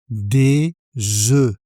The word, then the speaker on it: des œufs: Des œufs. Au pluriel, le F ne se prononce pas, et le son voyelle est différent.